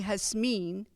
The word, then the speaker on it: Jasmine: of you call me jasmine i actually answered to all of those with fondness but when somebody calls me has mean which is the pronunciation back home in the philippines my heart skips several